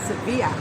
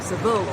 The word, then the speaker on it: Seville: So we've arrived in Sevilla or Seville. Seville or Sevilla, depends how you say it.